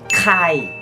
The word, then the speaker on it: Kai: các bạn phải đọc bật hơi lên Kai, và tên thiệt là Kim Jong In.